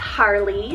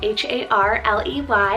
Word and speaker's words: Harley: It's Harley, spelled H-A-R-L-E-Y, Harley, and this one means the long field.